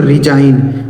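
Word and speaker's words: resign: इसे पढ़ा जाएगा दोस्तों रिजाइन। बहुत सारे लोग इसे नहीं पढ़ पाते हैं। तो इसे पढ़ा जाएगा रिजाइन। ठीक है? इसे रिजाइन नहीं पढ़ा जाएगा। यहां एस का उच्चारण ज होगा।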